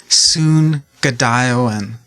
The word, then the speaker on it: Zoongide'ewin: yeah yeah so it's soon good iowan um so the zed is kind of pronounced with an s so it's soon yeah